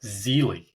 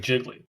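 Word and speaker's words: Gigli: It's pronounced Zeely, but it looks like Jiggly.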